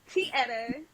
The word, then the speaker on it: Tyetta: um my name is Tia to be corrected okay the Y is silent but a lot of people mispronounce it my name is